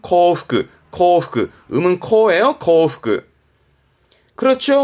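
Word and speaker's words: 幸福: 행복 발음은 코프크, 코프크.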